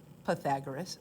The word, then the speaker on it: Pythagoras: differently because this person, Pythagoras, lived 2,500 years ago. So nobody really knows exactly how to say his name. I'm going with Pythagoras. Some people say Pythagoras because of the Y.